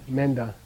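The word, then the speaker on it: མེ་མདའ: It's a rifle in Tibetan. Okay? Menda. Okay? Menda. Right? And then Tibetans are always misspelling it because they hear this na. So they're spelling it like this. Menda. You see what I mean? Because they hear a na there and they don't know about prenasals. Okay? They do them, but they don't know what they're doing. Okay? Menda, the word for gun.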